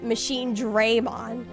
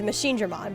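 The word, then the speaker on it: MachineDramon: all of the characters in that game were pronouncing it as machine Dmon instead of instead of Machine Drammon, which is the correct pronunciation is Machine Drammon.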